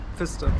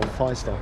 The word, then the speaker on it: Pfister: And how do you say your surname? Pfister. Pfister. It is Pfister. I thought it was Pfister, but it's Pfister.